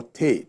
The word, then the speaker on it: Ter: So they have village chiefs, the village head they call Te. Te is spelled T-E-R.